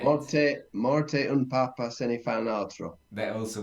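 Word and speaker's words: papà: everybody listening we have two words that are very similar in Italian one is Papa and one is Papa and the only difference is a little Accent on the last a papa means that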